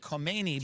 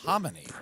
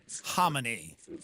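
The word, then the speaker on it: Khamenei: because, by the way, I was always saying Ayatollah Kmeni, but it's homonyy or something. I I just realized that, but Oh, boy. Here we go. Mucha homonyy.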